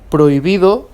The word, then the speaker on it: prohibida: examples in oh la prohibida and hasta okay the you the i surday H is not pronounced it's silent they mean respectively hello